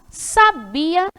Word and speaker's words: sabia: Então, é a sílaba que pronunciamos com mais intensidade. Então, ó, a sábia, sabiá, sabia, assobiar.